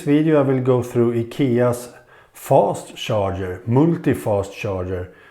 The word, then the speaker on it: IKEA: I'm from Sweden so I know that akia is pronounced like IKEA not IKEA as an American says and this is a